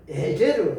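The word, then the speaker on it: עזר: 히브리어로는 이걸 에제르 갈비대를 에제르라고 발음되는데이 갈비대가 의미하는 것이 무엇이냐 하면이 말한 역 파트너 그러니까 동료 이런 뜻을 가지고 있다는 것이죠.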